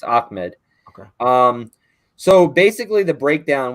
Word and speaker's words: Ahmed: Yeah, it's Ahmed.